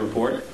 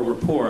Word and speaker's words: Report: Tyson has been a frequent guest on the Colbert Report, or rapport, I guess, is the proper pronunciation.